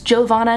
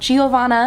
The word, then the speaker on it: Giovanna: Also, that's how you say my name, by the way, in case you didn't know it. It's Giovanna, not Giovanna.